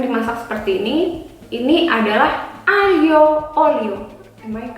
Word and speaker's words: aglio olio: Tapi kalau di bahasa Itali, kalau ada huruf G, L dan I, itu kita bacanya I. How? Li. Okay, that's so difficult, and even until now, I cannot say it correctly. Li. Aglio olio.